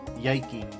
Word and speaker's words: yike: You know, it says yike. Yeah, I'll cosign that analysis. I think that's appropriate to rhyme with Nike. Yiky.